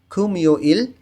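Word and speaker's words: 금요일: মিউমটা ইয়ংয়ের স্থানে চলে যাবে খুমিউইল শুক্রবার।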